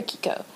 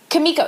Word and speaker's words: Kimiko: Is it Keiko or Kiko? Kimiko, sorry.